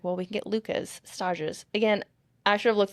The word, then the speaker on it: stage: Stage. Also, am I spelling it right? S T A G is like stage. It's just pronounced funny because it's French.